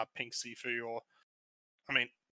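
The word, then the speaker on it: Pink Siifu: I think one of the highlights in the later part of the album is Pink Sifu. Yeah, that's how you pronounce it.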